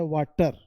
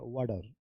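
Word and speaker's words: water: तो क्या पढ़ते हैं वाटर वाटर वाटर नहीं होता है वाडर वाडर वाडर अब समझ गए होंगे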